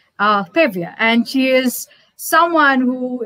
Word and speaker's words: Pavia: Is that Pavia? Mm-hmm. Is that how it's pronounced? Pavia. Yes, Pavia.